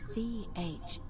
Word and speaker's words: Charon: It's just as you described it, only your pronunciation is a little off. The name you heard wasn't Charon. It was C-H-A-R-O-N, as in Charon, the ferryman of the dead.